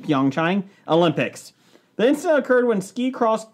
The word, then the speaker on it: Pyeongchang: P.F. Chang. Stop it. How do you say it? Pyeongchang. Pyeongchang.